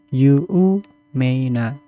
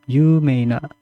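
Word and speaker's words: 有名: Yu meina. Yu berarti ada panjang yu yumaina yang artinya terkenal.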